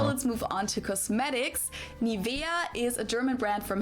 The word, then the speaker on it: Nivea: English native speakers usually say Nivea. Nivea. In German, we say Nivea. Nivea. Nivea. So, the emphasis is on the e.